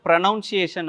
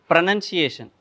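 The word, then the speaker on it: pronunciation: இந்த ப்ரனன்சியேஷன் அப்படிங்கிற வேர்டவே வந்துட்டு ஒரு சில வந்துட்டு ப்ரனவுன்சியேஷன் அப்படின்னு தான் சொல்லுவாங்க, அது ப்ரனன்சியேஷன். ஸோ நம்ம என்ன பண்ணுவோம் அப்படின்னா சின்ன வயசில் ஸ்கூல் படிக்கும்போது கேட்ட விஷயங்களை நம்பிட்டு இருப்போம்.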